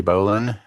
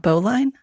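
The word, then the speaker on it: bowline: Um, learn how to tie a slippery sheet bend or slippery bolan as opposed to a regular bolan. Uh, it's pronounced Bolan, not Boline.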